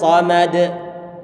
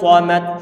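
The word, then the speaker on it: صمد: Qul huwallahu ahadunillahus samad. Samad. Perhatikan, samad. Ini bacaan yang salah karena huruf sadnya tidak dalam kondisi dhammah, maka pengucapannya adalah bibir kita buat datar saja.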